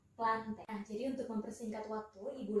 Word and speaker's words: Plantae: enggak jadi satu bisnya itu plantae tapi cara bacanya itu planet ini untuk mempersingkat waktu